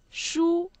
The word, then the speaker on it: 书: 我的书书 means book, the first tone.